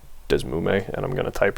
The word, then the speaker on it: DeSmuME: So DS, I personally think that the best one is, I pronounce it Desmume, and I'm gonna type right now, and I'm sorry.